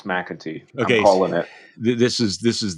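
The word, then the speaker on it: McEntee: um about john um is it we're going to pronounce it mackenty um john mcintyre i'm going to say mcatee okay i'm going to say i'm irish it's mcatee okay this is this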